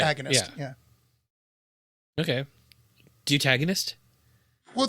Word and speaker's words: deuteragonist: Deutagonist? Well, the pronunciation is DU with an umlaut dash T upside down E dash RA dash G upside down E dash NIST, which is why I was struggling with it.